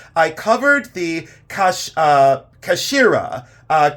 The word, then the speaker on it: Kashira: are very important I covered the cash uh Kashira uh k a s h i r a